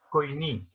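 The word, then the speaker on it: koiné: en el griego que se llama coiní. Yo lo pronuncio así. Yo pronuncio la yo hago siempre la pronunciación moderna.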